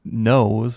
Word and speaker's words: nos.e: in whiskey and this is a technology called nose and that's spelled n o s dot e it is